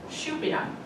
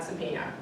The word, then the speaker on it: Šupina: And her name we pronounced as Supina, but of course when I went over to Slovakia it's Šupina, and it's not Supina.